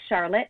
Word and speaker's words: Charlotte: So Eaton County is located, our county seat is in Charlotte, spelled like Charlotte, but pronounced like Charlotte, just because we're a little different here in Michigan.